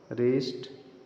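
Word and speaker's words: wrist: यदि आर के पहले डब्लू आता है वहां डब्लू साइलेंट होता हैसे रैक रेंच यह हो गया रीत रेसल रिस्ट रंग रिंग रट राइट रीट रेथ रप रथ रक रीत रपर सब में डब्लू साइलेंट है क्योंकि उसके बाद आर आ रहा है कुछ अन्य वर्ड्स भी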